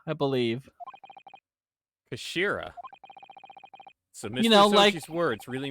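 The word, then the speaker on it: 頭: as it always is it's written as head in japanese but it's pronounced as kashira i believe kashira you know his words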